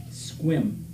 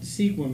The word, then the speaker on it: Sequim: By the way, sequim is pronounced squim. What are we talking about now? It's not sequim, it's not pronounced sequim, it's pronounced squim.